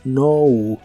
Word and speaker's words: know: un solo verbo no si una palabra empieza con kn en inglés la k no se pronuncia Así que esta palabra es no no y la usas para